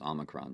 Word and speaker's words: omicron: recently uh and i said you know here pronounced omicron and omicron he said well it's omicron because that's what it is so i would